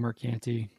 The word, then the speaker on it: Mercante: How do we pronounce this one? John, is this Mercante or Mercant? I've been saying Mercante.